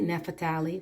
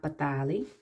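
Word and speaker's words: Naphtali: the image we got na patali na patali nefatali first people who don't pronounce it right but it's not batali the deer gad we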